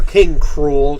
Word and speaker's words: K. Rool: to take you out king krule or King cruel cuz that's the whole point of his name thing you're supposed to